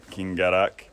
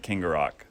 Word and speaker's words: Kingarrock: We're out here at Kingarrock. I think I pronounced that right, Kingarrock. So, been working on that just for y'all to pronounce it properly. Didn't want to, I kept calling it Kingarrock, if I'm being real.